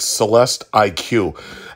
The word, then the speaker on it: Celestiq: friday at vale cadillac celeste iq and uh basically that's the way you're kind of supposed to pronounce it because the iq is their marquee for an electric vehicle just like in mercedes how their cars are supposed to be eq and then s or eqb